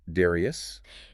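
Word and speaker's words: Darrieus: Pronounced Darius.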